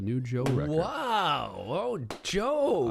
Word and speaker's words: Djo: Oh, Joe. I did not know how to say his name before. Yes. You know, I thought it was the Joe.